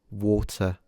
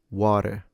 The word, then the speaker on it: water: So as you notice I don't pronounce the R at the end water.